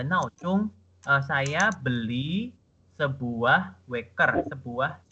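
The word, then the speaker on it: 闹钟: Ini bacanya ada 4 sama 1. 闹钟, 闹钟.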